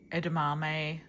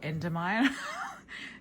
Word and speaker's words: edamame: This is yeah, got tofu, seaweed, avocado, marinated mushrooms, more seaweed, edamame, which I always say wrong. I hope I said it right that time. I used to call it endomime.